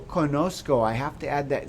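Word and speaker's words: conozco: in the yo form it's unique so the z i have to add a z yo konosuko i can't just say yokonoko i gotta go yo conosco i have to add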